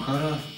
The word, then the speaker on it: Хара: Ну, если с ударением Хара. Хара.